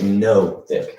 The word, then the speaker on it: nothic: with its one eye is that is that with the silent g at the beginning no it's just stuck with this start starts with an end i'm done i'm making it more difficult than it is okay no thick get it no so